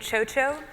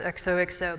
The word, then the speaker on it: XOXO: Thank you so much for having me at XOXO, which is how I've chosen to pronounce the name of this conference. It's using the Basque X.